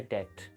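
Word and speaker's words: debt: के अंदर रख दिया तो इस वर्ड को बाद में भी डेट ही प्रोनाउंस किया जाता था लेकिन इसमें बी लिखा जाता था ताकि इस वर्ड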